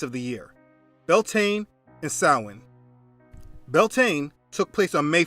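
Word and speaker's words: Samhain: Sin means summer's end. Just Google sin, summer's end, and you will see the date each year. Now, the word doesn't look how it's pronounced.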